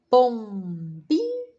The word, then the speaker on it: pombinha: Pombinha. Pombinha. Não é o bi?